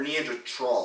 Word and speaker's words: Neanderthal: I'm a Neanderthal. Is it Neanderthal or Neanderthal? I think it's tall. Like tall. Neanderthal. That's the right way to say it, but.